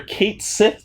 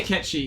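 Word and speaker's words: Cait Sith: you can actually trigger Kate Sith to appear in Aerith's place. We say Ketchi here. Okay, Yeah, whatever. isn't Ketchi the correct pronunciation?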